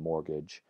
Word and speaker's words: mortgage: the spelling there similarly the T and mortgage has never been pronounced in English but it was written